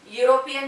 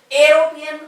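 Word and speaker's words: European: तर युरोपियन या उच्चारामध्ये आपण उच्चारण कसं करतो एरोपियन करत नाही. पहा इथे ई चा उच्चार आपण ए असा केला, इथं मात्र ई चा उच्चार आपण युरोपियन असा करतो.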